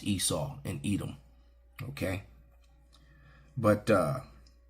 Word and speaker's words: Esau: is America it's white christiandom right Christianity is esaf Esau Edom you know because the rabbis say esaf it's kind of fun saying it that way so but it's pronounced you know in English it's pronounced Esau and Edom okay but uh but they they